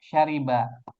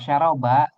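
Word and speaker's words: شرب: Syariba itu mengikuti wazan fa'ila ya. Fa'ila yaf'alu. Jadi kita bacanya syariba. Jadi kalau syaroba itu sebetulnya beda dialek istilahnya. Oh iya salah ya, Ustaz ya? Iya beda dialek sebenarnya. Biasanya dialek yang ini bacanya syaroba.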